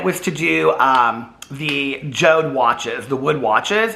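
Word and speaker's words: Jord: to do um the joe'd watches the wood watches it's like j-o-r-d but it's pronounced joe'd and um people reached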